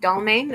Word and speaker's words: Dalmane: There was tons and tons of bottles of medication, including, I believe it's pronounced Dalmane, a sleeping medication.